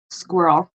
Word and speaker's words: squirrel: a lot of English learners will want to pronounce everything, but it's actually just kind of like squirrel, like that.